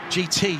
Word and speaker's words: GITI: They've got past the GTI, the GT, excuse me, GTI, reading it literally. GITI is the name of the tyre company, and it's pronounced GT.